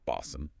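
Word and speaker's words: おばあさん: The difference between obasan, ant, and obasan, grandmother, is just holding that a sound slightly longer, but it changes the meaning entirely.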